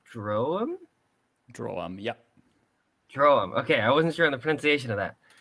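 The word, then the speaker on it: Droaam: Droam, okay, I wasn't sure on the pronunciation of that.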